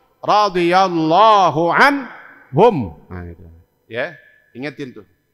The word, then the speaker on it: radhiyallahu anhum: Maka jawabnya kalau 4-4-nya disebut radhiyallahu anhum.